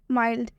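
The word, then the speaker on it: mild: माइल्ड में ये जो एल है इसका उच्चारण होगा, कैसे होगा? मा, ई, आधा ल और ड। ठीक है, माइल्ड।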